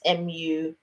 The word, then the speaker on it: Muire: Oh, it's spelt Mary, but it's Muire.